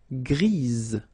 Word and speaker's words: grise: Gris, don't pronounce the S, but then for the feminine form, grise. Remember? Grise. Alright? So when you add this E, basically it gives you the pronunciation or the possibility to pronounce the previous letter here. It's Z. Grise.